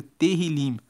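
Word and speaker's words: Tehilim: Tanto que na Bíblia original, no hebraico, o nome de do livro de Salmos é Terrilim. Se escreve T E H I L I M.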